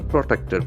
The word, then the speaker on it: protected: Center puts Nilakurinyi on the list of, okay, you are protected, PROTECTED. Okay, so very interesting word. It's an adjective now. Protected. See, protected. The accent falls on the second syllable.